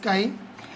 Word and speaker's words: chi: It is called as chi, K-A-I, chi, pronounced as chi.